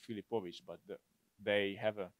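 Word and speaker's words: Filipović: stato aggiungere IT, quindi Filipoviti, invece di quella C strana. Però il suo nome reale, la sua pronuncia è Filipovic.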